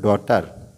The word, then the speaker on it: daughter: এবার দেখো ডটার, DAUGHTER, ডটার। ডটার এর বাংলা অর্থ কন্যা। তাহলে দেখো এখানে আরটা উচ্চারণ হয় না, এটা কেন হয় না তোমরা নেক্সট কোনো একটি ক্লাসে আমি তোমাদের সেই জিনিসটা বোঝাবো।